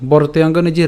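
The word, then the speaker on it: বর্তেয়ং: বরতেযে রেফটা আছে আমরা রেফটা এই ব এর সাথে উচ্চারণ করছি।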